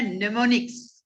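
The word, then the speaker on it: mnemonics: हम लोग कहते हैं नेमोनिक्स। क्या कहते हैं, नेमोनिक्स। हमने लिखा हुआ है यहां पर, देखिए इसको थोड़ा बोल्ड कर देते हैं, एम इज ए साइलेंट, ठीक है।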